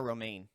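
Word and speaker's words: Romijn: to john stamos it was rebecca romain really yes yeah that's bizarre it's spelled r-o-m-i-j-n at every every news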